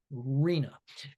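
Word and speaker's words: RHNA: Uh that's an acronym uh that we pronounce. arena.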